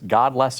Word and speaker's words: Godless: it God supposed to how do you pronounce it God bless or Godless God it's Godless America Godless America yeah you know